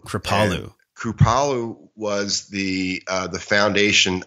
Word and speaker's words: Kripalu: You were at this center, I think it was called Kripalu, or how do you pronounce that, the yoga center? It's called Kripalu. Kripalu.